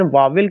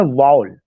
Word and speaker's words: vowel: The unit of वॉल, सबसे पहला चीज की जो हम लोग प्रोनाउंसिएशन वावेल कहते हैं वो गलत प्रोनाउंसिएशन है। उसका प्रोनाउंसिएशन है वॉल। वॉल, VOWEL, वॉल। वहां पे केवल एक सिलेबल निकलता है। जब आप उसको वावेल कहते हैं तब आप उसमें दो सिलेबल निकाल दे रहे हैं।